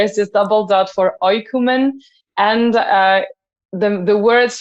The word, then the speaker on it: Oïkoumen: dot on the I because in French when you have an O and an I it's not the right way to pronounce the name of our band so that's why there